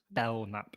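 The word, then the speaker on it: Belknap: issue and um that that's bellnap County oh sorry with youry Northern accent B thanks for the correction the K is silent okay I guess that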